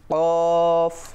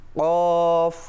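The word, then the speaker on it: قاف: আর এটার উচ্চারণ হচ্ছে জিহ্বার গোড়া তার বরাবর উপরে তালুর সঙ্গে লাগিয়ে। আমরা দেখতে পাচ্ছি জিহ্বার গোড়া ঠিক, বা আমি বলবো আলা জিহ্বা দিয়ে। কফ। আরেকবার, কফ। আরো একবার। কফ।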